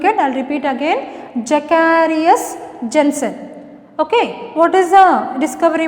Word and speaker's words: Zacharias Janssen: Pronunciation you look at, I will repeat again, Zacharias Janssen.